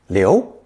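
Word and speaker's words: 劉: element on the right it's pronounced second tone Leo Leo and as a very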